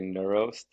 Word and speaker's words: NeuRoast: correctly too yes yeah it could be pronounced a couple different ways but we we typically say neurost okay so it has like the neuro in it um because again like